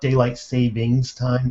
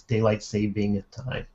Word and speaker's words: daylight saving time: Oh, and incidentally, and even I say it wrong, it's not daylight savings time, it's daylight saving time. Before somebody corrects me, I know there's no S in there, but my tongue just wants to Stephen throw it Hawking.